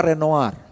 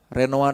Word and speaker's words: Renoir: Dibacanya gimana ya? Mane monet sama Renoar. Renoar itu renoir ya nulisnya itu.